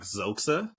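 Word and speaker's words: Xhosa: You can't necessarily pronounce it specifically because it has the X is essentially a click, but it's like Zoxa, and they actually speak it in the movies.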